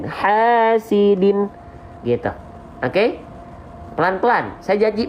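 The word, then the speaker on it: حاسدٍ: Kalau baris bawahnya 2, seret, ya, maka dia dibaca menjadi pakai N. Hasidin.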